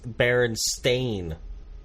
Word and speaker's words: Berenstain: at all it's it's Berenstain yeah whatever you can say it a different way if you have a different act no no it's it's not spelled like Stein it's spelled like stain okay that's fine i